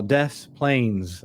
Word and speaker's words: Des Plaines: And by the way, that is pronounced correctly for our friends who are listening, maybe from Europe, who speak French. Here in America, we have some towns that we call Des Plaines, even though it was clearly French about 300 or 400 years ago.